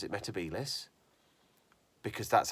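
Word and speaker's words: Metebelis: I'm not going to dwell on why nobody told Matt Smith to pronounce it metabelis because that's how you say it. It's not metabolis.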